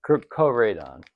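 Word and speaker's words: Koraidon: This one is a Crodon, yeah, Crodane, or Crodon, yeah. However you pronounce it on the front pack. See if it says on the thing. Legendary Pokemon. Yeah, Koradon.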